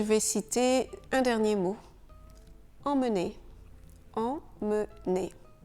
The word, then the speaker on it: emmener: Emmener. Emmener. Dans ce cas, le E, M, M, E est en fait deux sons. EM, en, et ensuite on a mené.